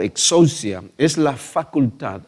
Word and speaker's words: exousia: En griego, la palabra autoridad se pronuncia exousia, y la palabra poder es dunamis.